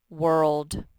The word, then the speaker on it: world: and this last one says world it's tricky the o says nothing world world we live